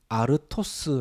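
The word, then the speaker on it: ἄρτος: 합니다 그런데 이도 어디 돌 말고 떡은 헬라어로 a 토스 라고 합니다 발음이 비슷하죠 돌은 l 스 떡은 a 토스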